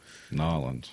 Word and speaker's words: New Orleans: So as of September, New Orleans. It's no New Orleans. Not New Orleans. It's New Orleans. Nolans.